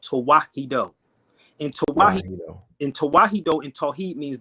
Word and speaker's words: Tewahedo: All right, it's not Coptic. It's Tawahido, and I'll spell it out for y'all so y'all can look it up. It's TEWAHEDO.